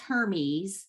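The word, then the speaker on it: Hermès: And for the listeners, it's Hermes. Mhm. It's not pronounced Hermes. It's Hermes because it's Hermes.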